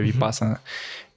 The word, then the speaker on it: vipassana: é vi vi vipassana vipassana se pronuncia vipassana eh fiz essa meditação